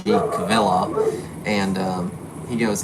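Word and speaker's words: Kvilhaug: eric eric what because his name's kind of hard hard to hard to pronounce uh when you look at it k-v-i-l-h-a-u-g cavilla and he goes it's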